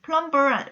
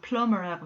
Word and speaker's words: plumber: 배관공에서 여러분 B 발음 없어요. 그래서 우리 발음할 때는 plumber 하지 않고 plumber라고 해요.